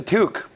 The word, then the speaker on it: toque: That's a toque. Is it really? One syllable. Toque.